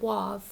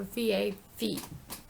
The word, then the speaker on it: vav: wolf it's it we they don't pronounce it wav but it's w-a-w or v-a-v so vav is the pronunciation um like in in